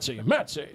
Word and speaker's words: Mets: Metsy, see? Mets, it rhymes with bets, and that's how I work.